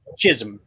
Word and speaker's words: Chisholm Trail: Chisholm.